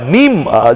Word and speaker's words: মিম: দেব দানিশ আজিজের সঙ্গে এমআই এম আই এম বারবার করে উচ্চারণটা মিম যে উচ্চারণ সেই উচ্চারণ নিয়ে অনেকে অনেক কটাক্ষ করেন কিন্তু হায়দ্রাবাদ থেকে যে